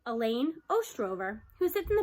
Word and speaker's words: Elaine: That's Elaine, I reply. Rhymes with pain.